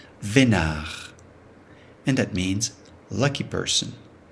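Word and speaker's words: veinard: Vénard. The final D is not pronounced. Vénard.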